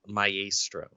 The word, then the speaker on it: Maestro: It's pronounced Maestro.